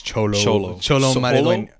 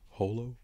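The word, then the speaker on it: Xolo: must just say it's cholo huh what Holo I don't know it starts with an X it starts with an X or Zolo maybe he's with his it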